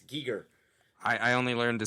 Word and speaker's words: Giger: because i'm looking at it's like h.r geiger that's the way it should that's the way it flows out of my tongue but it's not it's giger i i only learned